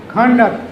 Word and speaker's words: conduct: Similarly, CONDUCT. When noun, conduct, ਤੁਹਾਡਾ character, ਤੁਹਾਡਾ behavior. And when it is verb, stress shifts to second syllable, conduct.